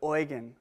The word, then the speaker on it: Eugen: love that I mean it's just Eugene but oan that's how they say it oan bler and